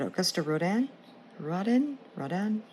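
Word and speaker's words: Auguste Rodin: I just watched a documentary of him, and I'm like, oh my God, I've been pronouncing his name wrong all these years. But Augusta Rodin.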